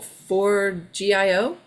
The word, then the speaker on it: Forgejo: How do you spell that? For- For GIO?